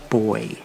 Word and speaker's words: buoy: In England, where I'm from, it's spelled the same but it's pronounced boy as in buoyant.